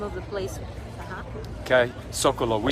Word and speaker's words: Zócalo: Zócalo.